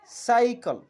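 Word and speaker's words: cycle: বলছি না কিমেন্ট অন্যদিকে যখন সি এর পর ওয়াই থাকবে তখন আমরা সেই সির উচ্চারণটিও স এর মত বলব বা দন্তসর মত বলব যেমন সাইকল অর্থাৎ সি এর পরে এখানে ওয়াই আছে সেজন্য আমরা বলব সাইকল অর্থাৎ সি এর উচ্চারণ এখানে স এর মতই অন্যদিকে আরেকটি শব্দ আমরা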